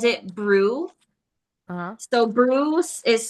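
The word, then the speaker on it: BRUE: And they called it brew. Uhhuh. So brew is spelled.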